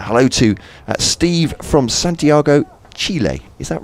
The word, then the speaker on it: Chile: to steve from santiago chile is that right how you pronounce it no it's not chilly is it chile is that right i think that's how the native country is close to yes